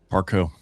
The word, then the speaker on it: Parcaut: Parkco.